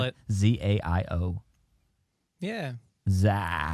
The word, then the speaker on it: Zayo: Zaio. Yeah. Zai. It's like chow with a Z. Zaio. Zao.